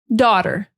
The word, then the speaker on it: daughter: Daughter, daughter. Yeah, just dot, but the T is like a D, the way that we pronounce it in the US.